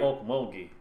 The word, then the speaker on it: Okmulgee: Yeah, that's Well, the at least we actual pronounce name. it right. Okmulgee.